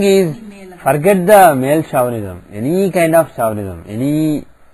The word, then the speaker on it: chauvinism: What will show that a person will have a male chauvinism?